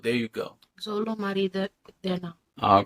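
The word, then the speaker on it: Xolo: unquote Spanish representation you found out how to pronounce his name it's Zolo Zolo there you go Zolo Mar all right so yeah I know I'm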